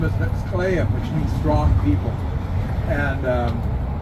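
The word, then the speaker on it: Klallam: But like Clallam is Clallam County, Clallam Bay. That's the English speakers' way of saying our tribal name. Our tribal name is Sklayam.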